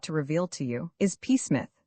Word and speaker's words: Psmith: My name, perhaps I ought to reveal to you, is Pith. The P is silent, and until very recently I lived in affluence, not far from the village of much Middlefold in this county.